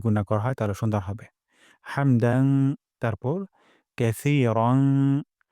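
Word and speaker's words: حمد: রব্বানা ওয়ালাকাল হামদ। এখানে হামদু আছে, এখানে আমরা ওয়াকফ করব। অথবা হামদুও পড়তে পারি, তবে ওয়াকফ করলে সুন্দর হয়। হামদ গলার মাঝখান থেকে হা উচ্চারণ করব।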